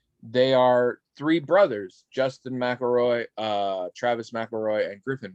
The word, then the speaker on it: McElroy: who are they they are three brothers justin mcelroy uh travis mcelroy and griffin mcelroy it's spelled mick elroy but it's pronounced mcelroy for some reason um i believe they're from